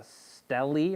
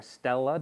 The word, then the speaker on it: stele: There is a stele or stella, depending on your pronunciation, S-T-E-L-E, of Babylon, of